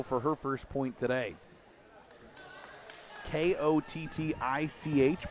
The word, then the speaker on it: Kotick: Kottich, but pronounced Kotick.